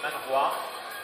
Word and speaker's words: manhwa: Et avec un H, ça se prononce manhwa.